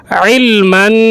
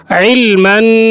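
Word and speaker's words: علمًا: আসলুকা আল্লাহুম্মা ইন্নি আসলুকা ইলমান ইলমান আইন উচ্চারণ করার সময় গলায় একটু চাপ দিয়ে অথবা প্রেসার দিয়ে উচ্চারণ করতে হয় তাই আপনাকে এখানে উচ্চারণ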